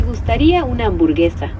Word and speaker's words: gustaría una hamburguesa: How would you pronounce that? Me gustaría comer de tu hamburguesa. Close. It's me gustaría una hamburguesa.